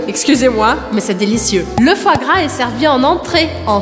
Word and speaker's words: foie gras: Primeira coisa que é engraçada é porque foie se escreve O, I, E. E eu vou pronunciar exatamente as outras duas vogais. Então, O, I tem um som de uá, uá. E o E no final eu não pronuncio. Foie, foie, foie. E aí, gras, gras. Eu não vou falar esse S aqui no final.